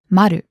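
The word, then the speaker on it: まる: 709 would be remember that the zero is pronounced Maru listeners listen and repeat it's room 709 now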